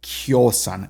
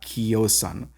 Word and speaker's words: kiosan: If it's coming from a diphthong, it's going to be pronounced like the ya J sound, like the kjosan and not kiosan.